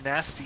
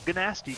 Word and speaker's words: Gnasty: Actually, in game, dragons pronounce it both ways. Oh, cool. So it's either nasty Gnorc or Gnasty Gnorc.